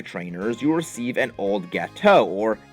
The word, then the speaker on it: Gateau: On Thursday, for defeating 5 trainers, you receive an old Gateau, or Gatieyu, as I knew many people used to pronounce it.